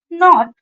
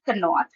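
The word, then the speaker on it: knot: नहीं करना होता है for example knee knife नॉट नो ड आई प्रोनाउंस कनी क नाइफ कनॉट कनो नो बिकॉज के is silent so I pronounce it knee knife नॉट एंड नो so here is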